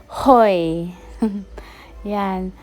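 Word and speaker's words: Hội An: how to pronounce guys that said they said Hoy yan nitr yan guys dating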